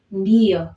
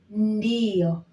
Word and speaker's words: ndio: Swahili, you simply say ndio. Okay. Ndio. Ndio. I want you to try and get the pronunciation clear. So we have N, we have D. So we have to pronounce them all together.